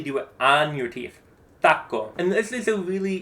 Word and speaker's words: taco: And ideally, you shouldn't have a puff of air for the T or the C taco because we don't pronounce a T with a puff of air either in Spanish. Not taco.